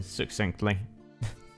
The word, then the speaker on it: succinctly: More elaborate to say than succinctly. Get to more. Latin. The main tweak to your pronunciation of that word is sus like sustain. Don't pronounce it as AC sound.